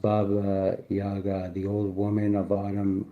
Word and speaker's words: Baba Yaga: To the Slavic peoples of Eastern Europe, Baba Yaga, pronounced Baba Yaga, the old woman of autumn whose spirit lived in the last kernel of harvested grain.